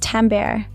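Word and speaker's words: timbre: same volume in is timber tambber. The bo is silent pronounced tambber is the fingerprint of a sound.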